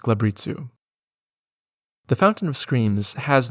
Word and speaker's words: glabrezu: by Mains rudkin vers and glabrezu which I just learned is pronounced gabitzu the Fountain of Screams